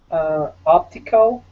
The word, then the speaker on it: optical: Optical. Mm-hmm. The first syllable. I think optical. So. Optical. Definitely. Optical. Yeah, the other two definitely that schwa unstressed sound.